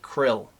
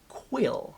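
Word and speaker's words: Kuiil: we know him as Quill. I often say Krill because it just seems easier for me to say with the way I speak. Quill. It sounds very quaint.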